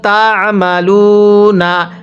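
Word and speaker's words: تعملون: ওয়াল্লাহু বিমা তা'মালুনা, আইনটা চাপ দিয়ে পড়বেন, অন্যথায় অনেকে আইনটাকে হামজা উচ্চারণ করি।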